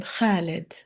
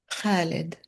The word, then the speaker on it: Khalid: I would tell her it's the same sound as in khamseh, khobez, sabanekh, five, bread, spinach. And my favorite name, Khalid, immortal.